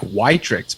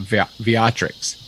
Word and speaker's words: Wiatrek: It looks like Vitrix, but I think it's pronounced Viatrix.